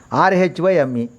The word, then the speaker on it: rhyme: This is the sixth word is RHYME, rhyme. H is a silent.